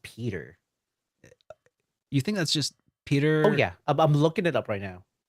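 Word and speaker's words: Piotr: it's actually just pronounced Peter.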